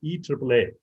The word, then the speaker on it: IEEE: so in region nine in latin america uh i triple e is actually called e triple a because the letter i is pronounced as e and the letter e is pronounced as a so we were in